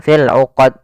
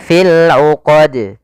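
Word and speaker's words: ٱلْعُقَدِ: Ya, di sini qalqalah, yaitu hati-hati dalam membaca qalqalahnya, yaitu pada lafal qalqalah ini harus dibaca dengan tidak ada tambahan hamzah dan dia harus memantul. Jangan sampai berhenti tidak memantul. Misalnya fil 'uqad atau fil 'uqad. Nah, ini salah. Ya, tapi fil 'uqad. Nah, begitu. Tidak ada hamzah tambahan.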